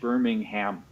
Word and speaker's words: Birmingham: pronounced out loud Birmingham you say the H Birmingham yep ham okay but